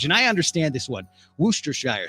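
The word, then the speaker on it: Worcestershire: I understand this one wer Shire sauce right looks like Worchester Worchester Shire sauce which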